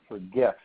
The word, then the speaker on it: GIF: there's another feature where you can search for GIFs. Actually, they pronounce it GIF, but it's spelled GIF.